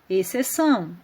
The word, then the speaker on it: exceção: tem um exemplo de outras palavras exceção quando eu vou pronunciar eu falo exceção o x não aparece a outra palavra disciplina